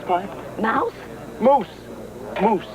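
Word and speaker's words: mousse: what on me come Mouse pie Mouse moose moose he doesn't know how to pronounce French it's a it's a moose pie Chocolate Moose pie oh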